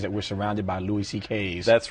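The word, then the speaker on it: Szekely: My Hungarian grandfather's name was CK, but it's spelled, it looks like S, it's a mess. It's S-Z-E-K-E-L-Y, and it sounds like CK, though.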